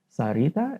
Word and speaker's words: Syreeta: it's a different spelling yeah we call it Sarita s a r i t a Sita that's how you pronounce it like some people spell it and